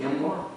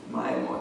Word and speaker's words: Myanmar: It's how do you pronounce it? Myanmar. Myanmar.